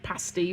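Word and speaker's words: pasty: You can go to uh Universal Studios and order a pasti from the pasti cart and be like, I want a pasti.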